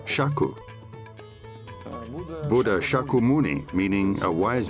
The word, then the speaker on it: Shakya: In India, it's pronounced Shaku.